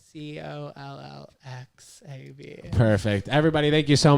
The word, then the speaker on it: CollXab: Because I know the X is silent. CollXab.